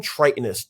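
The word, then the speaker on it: Tritonus: Yeah, King Tritonist. T R I T O N U S. Yeah, King Tritonist.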